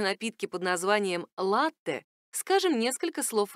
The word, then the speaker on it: latte: о напитке под названием latte скажем несколько слов о нем ударение в этом слове ставится на первый слог оно пришло к нам из итальянского в котором произносится именно так latte и переводится как молоко